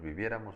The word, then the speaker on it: viviéramos: Yo viviera, tú vivieras, él viviera, nosotros viviéramos, ustedes vivieran, ellos vivieran. Y aún así, primera de plural sería la única que tiene acento. Viviéramos, tendría acento en la E.